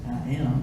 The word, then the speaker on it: IAAM: International African American Museum, IAAM, pronounced I am by some, recalling the times when black protesters carried signs saying, I am a man.